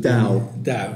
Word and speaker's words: Tao: Tao. Yeah. T pronounced D.